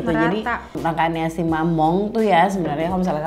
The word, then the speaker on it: Mamonde: Oke, next ke produk selanjutnya, ini ada brand dari Korea yang baru masuk juga ke Indonesia, namanya Mamong. Ya, tulisannya Mamonde, tapi bacanya Mamong.